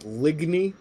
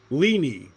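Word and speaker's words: Ligny: pronounce this right I I pronounce it ligy l i gny y ligy I'm probably pronouncing it wrong and there's supposed to be some uh letter in there that's silent I don't know uh film for time I need to edit it tonight I'll start the full playthrough on the 19th leenie okay so the g is silent let me guess it's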